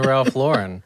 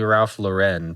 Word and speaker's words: Ralph Lauren: over the last year yes you and the Ralph Lauren and I I I know it's not pronounced like that it's supposed to be Ralph Lauren but I cannot bring myself to say that